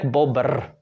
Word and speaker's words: bobr: And then in Czech, bobr. Again, how long can you pull that R? Bobr. It's a little bit more difficult, but still workable.